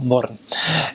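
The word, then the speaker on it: Mörön: You go in the north, they've got a place called Little Switzerland, called Murren, which is spelled moron, but call it Murren.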